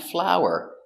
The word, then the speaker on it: flower: flow to make bread pronunciation is the same f f ow flow ER flower flower flower same pronunciation let's practice is this